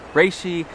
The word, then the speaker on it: reishi: now some people pronounce a tri see some pronounce it reishi I was always taught reishi special I'm going to say for the rest